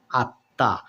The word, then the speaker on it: আত্মা: আত্মা আত্মা তাই না কিন্তু বন্ধুরা এখানে কি হচ্ছে এখানে যেটা হচ্ছে যে ম এখানে উচ্চারিত না হয়ে না হয়ে যে ব্যঞ্জন বর্ণটির সঙ্গে বরং যে ব্যঞ্জন বর্ণটির সঙ্গে বরং ম ফলা আছে সেই বর্ণটি আবার ডাবল হয়ে যাচ্ছে মানে কি দুইবার হয়ে যাচ্ছে দৃত্ত হয়ে যাচ্ছে বন্ধুরা তাহলে উচ্চারণ হয়ে যাচ্ছে আত্মা তাই না দেখুন তো